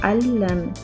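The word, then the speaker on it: عَلَّمَ: Alam and allam. Notice the stress or the shadda over the middle letter.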